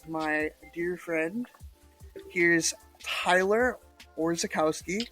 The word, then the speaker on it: Orzechowski: Here's Tyler Orzechowski, right?